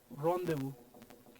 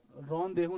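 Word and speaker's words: rendezvous: ठीक है तो देखो यहां प आ रहा है एन के पहले वल ओ का साउंड आएगा ये जड है लास्ट लेटर है लास्ट लेटर है क्या हो जाएगा साइलेंट हो जाएगा सो it will be pronounce रदेव क्या प्रोनाउंस करेंगे इसको रन देव बोल के बताओ रन देह नहीं रोना नहीं किसी है फ्रेंच इज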